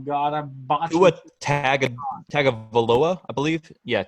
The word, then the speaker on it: Tagovailoa: they pronounce it on like ESPN and stuff. There's an N. They say an N, but there's no N in the actual name.